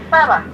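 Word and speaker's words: Zara: 자라가 자라라고 읽으면 안 돼요. 사라. 네, 사라.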